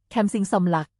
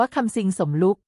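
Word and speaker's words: Somluck Kamsing: ใน ครั้ง นี้ สมรัก ใช้ ชื่อ ภาษา อังกฤษ ว่า แคม สิง สม หลัก โดย เจตนา ให้ มี ใน ทาง โชค ด้วย แต่ ผู้ บรรยาย ภาษา อังกฤษ อ่าน ออก เสียง ว่า คำ ซิง สมรุ่ง ซึ่ง การ คว้า เหรียญ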